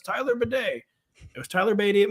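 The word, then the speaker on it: Badie: to Great Links like he says it's Tyler Beday it was Tyler BTY at missou I'm gonna say Tyler Bay since apparently that's how he wants to pron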